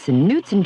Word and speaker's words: Knutson: The K is silent, Adam. It's Knutson cheesecake dessert in a cup.